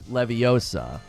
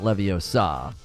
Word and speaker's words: Leviosa: even a gif of Hermione correcting the pronunciation levios Leviosa not Leviosa it's Leviosa not Leviosa